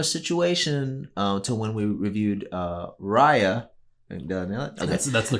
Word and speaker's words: Raya: But it was a similar situation to when we reviewed Raya. Okay. That's the correct pronunciation.